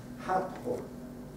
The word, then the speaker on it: Hathor: Dendera era un lugar que estaba dedicado a la diosa Hathor, o pronunciado en el antiguo egipcio Hat-Hor.